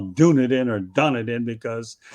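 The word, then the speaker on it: Dunedin: So what's your pronunciation of done it in or whatever you call it?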